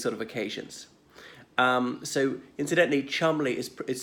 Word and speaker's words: Cholmondeley: frankie for these sort of occasions so incidentally Chumley is spelled calm on delay but pronounced Chumley so um on this woman Rose hand raised